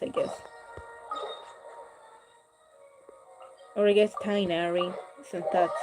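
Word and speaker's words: Tighnari: actual technology quest i guess or i guess tying arie so that's how they pronounce his name i don't want to play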